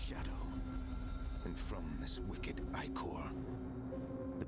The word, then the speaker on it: ichor: And from this wicked ichor, the That's how it's pronounced. I always said it was Iker.